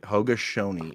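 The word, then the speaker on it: Haudenosaunee: Olympics the H shy I got it right hogash Shoni is how you pronounce it I apologize go but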